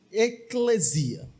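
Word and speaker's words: ἐκκλησία: Irmãos, a palavra igreja vem de uma palavra grega que se pronuncia basicamente eclesia hoje em dia.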